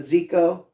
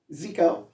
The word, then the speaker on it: Zico: He's now going by the name of Zico. Zico. Rhymes with my dog, Miko.